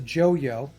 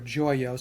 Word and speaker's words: Joyo: it some substance and this is a joyo or joyo some people might pronounce it and this is a